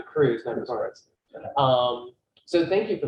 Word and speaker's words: Kreuz: well thank you and sorry i've mispronounced your name that's okay it's dr cruz um so thank you